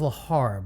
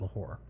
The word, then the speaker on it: Lahore: Okay, so it is Lahore, Pakistan. Uh, I I I I thought it was Lahar, but no, it's actually pronounced Lahore.